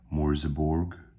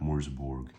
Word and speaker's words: Merseburg: grand conducted a second B bombing mission of mburg Germany or as it's more properly pronounced moror that's correct moror so as a reminder where morberg where mburg